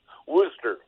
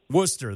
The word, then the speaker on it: Worcester: And thank you for correcting the pronunciation, because people always struggle with that. Worcester. Worcester, that's right.